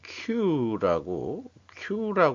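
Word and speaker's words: queue: 그거를 뭐 영어로는 Q라고 발음을 하고 있어요.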